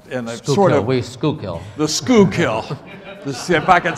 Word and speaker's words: Schuylkill: kanawa and the and the sort of the school kill let's see if I can say it correctly Schuylkill um we've got about 10 minutes these are